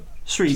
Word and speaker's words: Sri: And when she was doing this, there was this bloke beside her called Jonathan Sri, if I'm pronouncing it correctly. probably not. Sri Lanka. Stop. Sri.